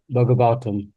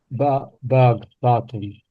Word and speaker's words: Bhagavatam: The professional stage can automatically be attained by Krishna and Krishna consciousness as stated in the Srimad Bhagavatam. Look, the stress is on the A. Bhagavatam.